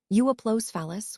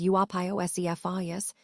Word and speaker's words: Euoplocephalus: Euoplocephalus, which you can pronounce as Euopiocephalus, was a broad-beaked herbivore, meaning it primarily ate plants.